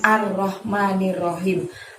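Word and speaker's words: الرحمن الرحيم: ayat yang ketiga di biasanya teman-teman suka di panjang-panjang in art bacanya kan arrohmanirrohim art pendek nyir pendek ya seperti ini arrohmanirrohim jadi disini tadi panjangnya hanya mah sama Kim karenanya pendek ya ulangi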